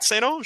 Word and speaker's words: St. Ange: No, you say it right, St. Ange. Okay, yeah, good. You say it's very French.